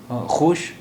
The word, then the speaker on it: خوش: ये डब्ल्यू वाव के लिए इस्तेमाल हुआ, ख्वाश, खोश, ख्वाश। अब ये वाव नहीं बोला जाता है, इसलिए ये लफ्ज़ है खुश, खुश।